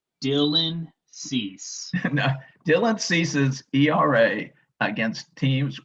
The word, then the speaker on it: Dylan Cease: pronounced it wrong it's it's pronounced dylan cease dylan ceases era against